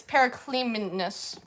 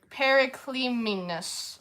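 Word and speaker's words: Periclymenus: zara got it it's periclementness i'm not i'm not taking off points for spelling because like i would not be able to spell that name it's like perry clean meanness something like that uh this is the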